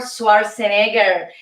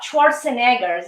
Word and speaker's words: Schwarzenegger: who is who is in third place arnold schwarzenegger yes schwartzwatch schwarzenegger's is the uh the pro pronunciation okay arnold schwarzenegger is in third place